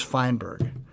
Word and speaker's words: Feinberg: going to do again you're never going to mispronounce my name my name is feinberg and i said and my dad's name was